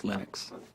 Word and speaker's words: Linux: And I really don't care how people pronounce my name. But Linux is always Linux.